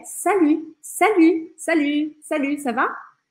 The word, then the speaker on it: salut: Salut, salut, não é para falar o T, não é salute, é salut, salut.